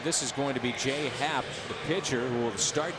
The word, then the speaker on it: J.A. Happ: And this is going to be Jay Happ, the pitcher, who will start tomorrow. He'll be the pinch runner. That's always a little risky using tomorrow's starter. But Jay Happ and it's J.A. Happ, pronounced J.